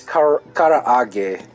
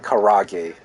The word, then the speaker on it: karaage: Whether it's chicken yakitori, even chicken karaage, or you know, it's karaage, not karage. Well, it's in Americanized as karage, but it's karaage because of that extra A.